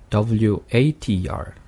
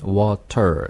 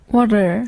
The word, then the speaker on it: water: 그리고 자, 다섯 번째 단어가 이제 마지막 T 발음이 약한 D 발음이 되는 마지막 단어겠네요. W-A-T-E-R 그러면 T 발음을 해버리면 water 될 네. 것이고 약하게 하면 해볼까요 한번? water 네, water, water water 네, 됩니다.